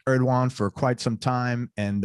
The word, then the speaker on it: Erdoğan: It's pronounced Erdoğan.